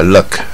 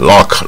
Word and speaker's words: luck: look 啊，运气啊，它 luck 啊也是不卷舌带耳的音啊，不要念成 lock 啊，听起来像锁啊